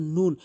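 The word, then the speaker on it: ن: এরপর আসুন নুন। মুখটি গোলাকার করে এভাবে নুন। এরপর আসুন ওয়াও।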